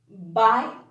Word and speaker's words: bite: ice cream okay and the second one is silent it doesn't make a sound it's just there their